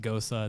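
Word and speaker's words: Gose: how to pronounce it it should be pronounced gosa that's the closest way for an american to pronounce that word if you're not german it's a specific german-style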